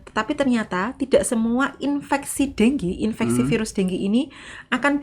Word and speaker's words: dengue: Tulisannya dengue gitu ya, tapi bacanya denggi.